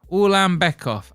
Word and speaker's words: Ulanbekov: Ulanbekov.